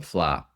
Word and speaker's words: Fleadh: I was just actually on Saturday there's the Irish music festival every year it's called the Fleadh uh Cheoil the uh Cheoil. It's spelled Fleadh f l e a d h and it's the Irish traditional music and festival.